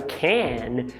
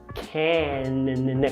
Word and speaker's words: can: A única coisa que eu quero que você faça é quando você pronunciar o can, você bater a língua lá nos alvéolos. Can. Cuidado para não falar can, nasalizando, ok?